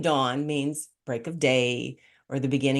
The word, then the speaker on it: Dawn: the other was named Dawn and my mom was like oh I like so growing up people call me like d o n instead of dawn like you pronounced it correctly and I hated my